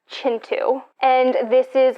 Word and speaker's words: Kintu: through that and um then i am reading kintu which is just like my basic i'm reading a book physically which no it's actually pronounced chintu and this is like a multi-generational family saga